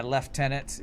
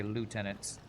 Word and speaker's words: lieutenant: it's always weird when I hear somebody say left tenant it's like okay I guess that's the the British pronunciation the English England English pronunciation CU we say lieutenant in American pronun in our American pronunciation what is this something